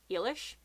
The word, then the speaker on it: Eilish: calls the sister Eilish I've always known it to be ela SH but then as I said there's different pronunciations like in under the Hawthorn tree the girl is called i'll e r eally it just depends on what your accent is on the last thing